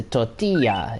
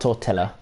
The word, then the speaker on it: tortilla: But obviously, learning Spanish, you learn that the double L sound is a Y. It's a tortilla. It's not a tortilla.